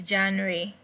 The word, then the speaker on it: Januar: J letter J in German words in German alphabet is pronounced as Y in English.